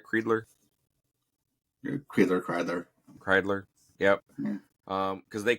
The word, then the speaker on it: Kreidler: I pronounce his name right, Kreidler. Kreidler.